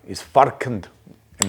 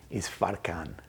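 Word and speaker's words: Isfarkand: is far is far is far and then he says good at the end of it. The D is silent, hillbilly. So it's actually pronounced is faran.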